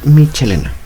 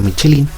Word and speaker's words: Michelena: en una vez más a pronunciarlo de los hermanos michelena no michelín no michelín michelín de 1809 donde ciertos